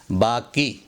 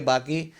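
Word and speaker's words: बाक़ी: 12वें number पर है बाकी। इसको गलत तलफ़्फ़ुज़ है ये बाकी। इसका सही तलफ़्फ़ुज़ है बाकी, अरबी का लफ्ज़।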